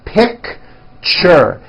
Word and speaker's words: picture: keychain lunchbox Richard picture that's a tricky one it's two syllables you pronounce it picture picture teacher Fortune n